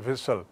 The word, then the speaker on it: whistle: So then with eri delicate विस्पर whistle, as I said, whistle, whistle, और उच्चारण है whistle.